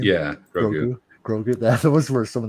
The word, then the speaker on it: Grogu: Grogu.